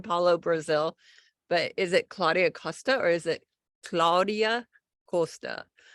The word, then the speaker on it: Claudia Costa: In Portuguese, that's the language I speak, is Claudia Costa.